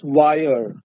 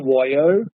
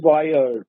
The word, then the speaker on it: voyeur: The pronunciation of this word is wire. It is not wire. It is wire.